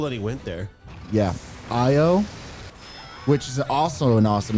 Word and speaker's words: Io: Yeah, Io, which is also an awesome name for a dog. Io is how you is a good spell it. name. It's literally pronounced how it's spelled, which is my favorite kind of word.